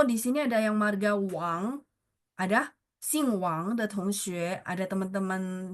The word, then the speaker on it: Wang: Nah, kalau wang itu sebenarnya dia bacanya u a ng tapi ditulisnya ditulisnya ya ditulisnya W sori W A N G.